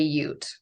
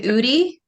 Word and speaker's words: Ute: pronounce it correctly because some people don't know how to say Ute how do they say it what do they say um do you get what's in what's an Udi okay that's our Oregon